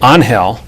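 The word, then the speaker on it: Ángel: So yeah, so we introduce him as Ruiz Rivera, and also call him Angel as opposed to Angel, which is the correct Spanish pronunciation, right?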